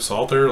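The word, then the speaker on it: Psalter: the Royal dragon Court PSA LTR Salter like Psalm against salt over the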